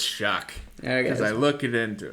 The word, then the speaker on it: Shough: I believe it's Tyler Shuck. Shuck. Shuck. Shough, and it's Shuck. I know how it's spelled. I'm pretty sure it's pronounced Shuck.